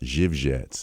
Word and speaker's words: Zywiec: So it's pronounced Jivett, but Z Y or C Z Y W I E C.